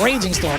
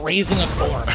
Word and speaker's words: Raging Storm: Yeah, I think it's Raging Storm, but I always thought it was like Raising a Storm.